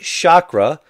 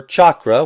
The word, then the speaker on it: Chakra: Today we have a look at Chakra, or Chakra, whichever way you prefer to pronounce it.